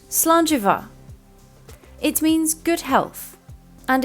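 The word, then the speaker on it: slàinte mhath: like the English V so this would be pronounced slant Eva it means good health and is said in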